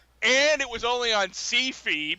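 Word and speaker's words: Syfy: it was only on C-Fi, because that's how it's pronounced, I swear to God.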